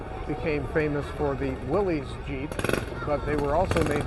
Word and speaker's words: Jeep: a general purpose vehicle as in GP but it got pronounced as Jeep and here are quite